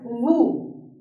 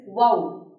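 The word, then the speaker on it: woe: See, most of you would pronounce this particular word as woo, W-O-E. You would say it as woo, which is a wrong pronunciation. The correct pronunciation is wow, wow, W-O-E, wow.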